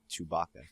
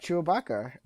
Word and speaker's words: Chewbacca: chewbacca wait chewbacca chewbacca it's chewbacca is it is it not no it's chewbacca chewabaka i've said chewabaka for like well that's wrong that's wrong did you not listen